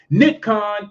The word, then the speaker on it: Nick Khan: the backing of aw did you have nikon nikon is this guy who is sort of like